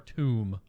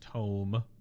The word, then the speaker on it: tomb: No E on the end, so it's not tome.